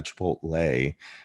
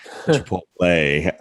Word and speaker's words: chipotle: just recorded myself i think it was a chipotle not a chipotle chipotle um depending on what part of the south